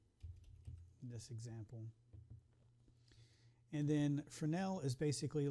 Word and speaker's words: Fresnel: So, if you um and it's the S is silent. Um, and I know it may sound sound like I'm pronouncing Fresnel, which is a different person altogether, but it's Frenel is how you pronounce that.